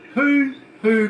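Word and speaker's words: huhu: No, hoo-hoo grub. That's spelled H-U-H-U.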